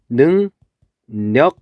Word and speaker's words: 능력: 그랬을 때 얘는 발음을 하면은 어떻게 발음되냐면 능력 이렇게 발음이 돼요. 왜냐면은 비음이 아니었던 유음이 이렇게 비음으로 바뀌어서 그걸 우리는 비음화라고 불러요.